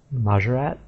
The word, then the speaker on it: Maat: that's how it is Maat is pronounced majat Maat it's pretty similar to what I thought it was but it has a bit more emphasis on the T at the end they sort of pronounce as if it had two T's rather than just the one the next two are